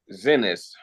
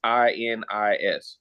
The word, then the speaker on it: Xinis: Her name is Paula Xinis. It's Xinis. So if I spelled her name wrong, I apologize.